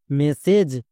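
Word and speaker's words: message: জন্য দ্বন্দস করবো যেমন এম ই এর জন্য কি হবে মে ডবল এস এর জন্য একটা এস এস এর জন্য দ্বন্দস নেক্সট এ জি ওয়ার্ড প্যাটেন এর জন্য হয় এজ তাহলে মেস প্লাস এজ মেসেজ এখানে কিন্তু এস এর জন্য বর্গীয় জো হয়নি কেন হয়নি কারণ এস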